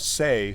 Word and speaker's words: Seay: And then there's a woman named Say, who is kind of an ambient, new age artist. How do you spell that?